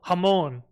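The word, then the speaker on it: jamón: Oh, hamon.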